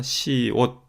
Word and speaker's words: 시옷: 자에도 동그라미가 쳐져 있는데요 여기도 의가 아니라 옷이니까 옷이라고 읽 라는 겁니다 시옷 그리고 이응 자 이게